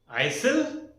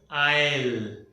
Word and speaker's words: aisle: Isle? No. This is called as aisle. The pronunciation of this. Aisle. Last में L की sound है.